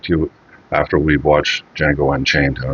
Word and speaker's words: Django: So next up is the Django Django Unchained cuz the D is silent as he says in in the film if I remember correctly.